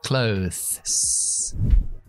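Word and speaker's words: clothes: A mi parecer es ropa que es clo tienes que sacar la lengua para la th y después terminar con una s clot Ninguna palabra en castellano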